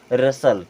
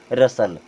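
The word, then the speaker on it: rustle: इससे क्या पढ़ते हैं रसल क्या पढ़ते हैं रसल क्योंकि यहां पर भी टी साइलेंट है यहां देखें यहां भी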